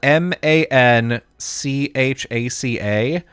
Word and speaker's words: Manchac: There's also there's this road there, spelled Manchaca, which should be pronounced Manchaca or Manchaca. Oh, yeah, Manchaca. Yeah. Yeah. No, it's pronounced Manchac. What? Yeah, everybody in Austin pronounces it Manchac, and it sucks.